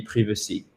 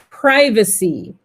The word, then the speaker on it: privacy: soit c'est bien prononcés soit on se loupe complètement on dit privé ci et là vous imaginez